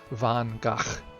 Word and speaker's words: Van Gogh: want to be um if we want to actually say it like a Dutch person you know proper accent it would be Van Gogh but I I'm not